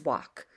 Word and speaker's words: walk: could should would walk there's no l pronounced you can see the L in the word but it's not walk it's walk it's not talk it's